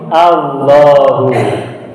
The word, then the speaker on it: Allah: menjadi hal Lahu nah lalu dibacanya tafkhim menjadi Allah jadi Allah adalah nama Allah